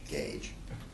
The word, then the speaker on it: GAJE: Alliance For Justice education pronounced like a tire gauge gauge uh and as it